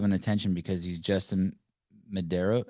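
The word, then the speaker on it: Medeiros: attention because he's justin medeiro how do you say his life name medaris unbelievable the disrespect for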